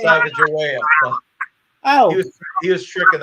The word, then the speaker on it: Sacagawea: The answer was Lewis and Clark, and how do you pronounce that? Sacagawea. Sacagawea.